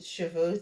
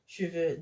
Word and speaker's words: cheveux: So this one is like cheveux. The silent E, the first E here is that silent E that we don't open our mouths to say.